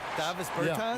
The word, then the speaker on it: Davis Bertans: Oh, well, now, at this point in my life, it's Davis Bertans. Is that how you say his name? Davis Bertans. Davis Bertans?